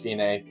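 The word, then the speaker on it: fine: It is pronounced fina and it's just telling you to stop playing there.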